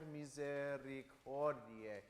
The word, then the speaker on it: Misericordiae: Now, the only other thing I would add is Salve Regina Mater Misericordiae. There's these few syllables that need to be kind of accented.